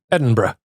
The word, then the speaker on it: Edinburgh: Edinburgh. Yeah. Edinburgh, like bruh. Yeah, kind of.